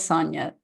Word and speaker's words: Sonia: Sonia, I pray that I'm pronouncing it correctly as Sonia. I've just asked you to unmute. There we go. You are. It is Sonia.